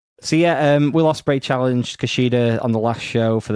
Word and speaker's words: Kushida: Kushida. Okay. Yeah. That's how they say it.